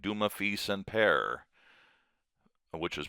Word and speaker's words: Dumas: and the judge, like Zeus and Mercury, like Dumaf, and Pear, which is pronounced Duma, Feast, and Pear, even though it looks like Dumas, Fil and Pear, or PE.